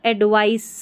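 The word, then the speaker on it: advice: यहां पर सी है तो एडवाइस स है। ये इतना ध्यान रखना आपको यहां उच्चारण में सी का उच्चारण स है। यहां पर एस है ना इसका ज है एडवाइस।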